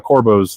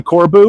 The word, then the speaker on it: Corbeau: Let's talk about the Recaro or the Corbos, though. How do you say? Do you say Corbu or do you say Corbo? I say Corbeau.